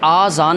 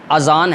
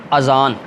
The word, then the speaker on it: اذان: رسول ہوں۔ اسی طرح بعض لوگ اس کا جو تلفظ کرتے ہیں نا آذان کر دیتے ہیں، اصل میں آذان نہیں ہے، اذان ہے۔ درست تلفظ کیا ہے؟ اذان۔ اور اذان کے لغوی معنی کیا ہے؟